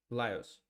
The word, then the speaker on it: Lajos: Ledgers or Lajos Portisch versus Laios.